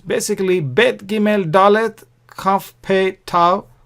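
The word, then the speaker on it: ב: The bet is pronounced as b, boy sound, b sound. Whereas without the dot, it is pronounced v sound.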